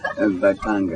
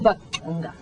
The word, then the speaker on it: Mbaqanga: that how you pronounce it? Mbaqanga. Mbaqanga.